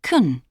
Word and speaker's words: can: In positive sentences and questions, can is pronounced kun.